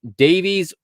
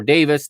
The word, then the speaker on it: Davies: center back pairing with Ben Davies or Davis, depending if you want the American or the UK pronunciation. We in the US say Davies to this, and in the UK they say Davis.